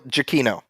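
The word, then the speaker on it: Giacchino: Yeah, it's Michael Jakino. Jacino.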